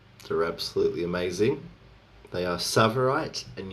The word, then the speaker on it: tsavorite: They are tsavorite and uvarovite. Tsavorite is spelled Tsavorite, Tsavorite, and Uvarovite is spelled Uvav.